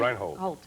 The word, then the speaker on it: Reinhold: Reinhold.